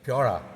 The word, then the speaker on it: Pura: you know it's just the way they pronounce pure so piora this is Pura and that in itself